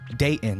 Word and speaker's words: Dayton: Dayton.